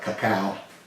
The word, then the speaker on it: cacao: I like to call it cacao. That's what it's pronounced in South America.